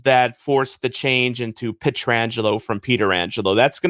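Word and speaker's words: Pietrangelo: if you want but if you ask him how he pronounces his name he'll tell you it's alex petrangelo and not long after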